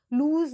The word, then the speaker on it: loose: LOOSE has a long U sound but ends with S sound। लूज जिसे बोलेंगे, ये S